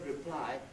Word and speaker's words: reply: In other words, if you take the word reply, for instance, the word reply is always stressed on the second syllable, not on the prefix, whether it's a noun or a verb.